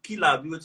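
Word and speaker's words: Killam: Kilam, like like kill and arm, like Kilam, like you get, yeah.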